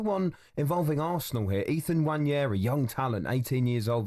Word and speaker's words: Nwaneri: And hopefully for Ethan Nwaneri, how do you say his name? Nwaneri, yeah. Nwaneri.